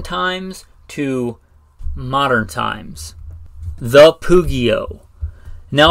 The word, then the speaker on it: pugio: Now, if you don't know the Pugio, or Pugio, if I want to say it like an Italian, or I guess an ancient Roman, who knows how the ancient Romans actually pronounce stuff, right? We know that language changes over time. Pugio, or Pugio, if you're going to pronounce it the way that it's spelled.